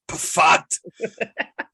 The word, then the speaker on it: Pfaadt: When in doubt, just pronounce the P. So it's Pfaadt.